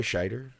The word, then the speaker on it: Scheider: to pay my credit schneider is that how you say it roy scheider yeah yeah so in roy